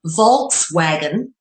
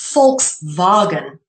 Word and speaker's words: Volkswagen: an f um and it would be a w that sounds like a v in in Dutch or German so for example what some people in English would call a Volkswagen is actually pronounced fulks